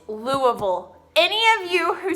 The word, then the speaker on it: Louisville: in prams parfaits wrong I can see how I could think it was Louisville its Louisville now I know you have to say it like you put a bunch of rocks in your mouth and say huh right